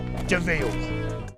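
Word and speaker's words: de Vil: He's spelled devil, but he's pronounced Deville.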